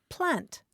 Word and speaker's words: plant: I didn't either but the Welsh word for children is plant p l a n